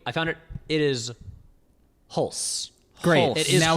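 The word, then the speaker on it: Hulce: yeah, Because like his Tom Hulse's or terrible. Holtzy's like parents are Jason Robards. They're oh wait, I found it. It is Hulse.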